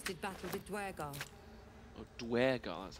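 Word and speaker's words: duergar: Oh, Dwergar, that's how we pronounce it.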